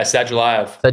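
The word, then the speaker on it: Sadulaev: We getting Nickal versus Sadulayev, if I'm pronouncing that correctly? Soon? Yeah, Sadulayev.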